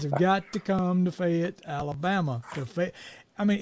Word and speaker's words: Fayette: I mean, it's spelled Fayett, Fayette, but it's really Fayette, F-E-T. Yeah. Fayette, Alabama. say it That's as where if y'all it are was coming. spelled F-E-T. So Yeah, if y'all come in there pronouncing it all correctly, J. Fayette or something, people ain't gonna know what you're talking about.